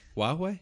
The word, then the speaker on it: Huawei: Is that how you pronounce it? Huawei. Huawei.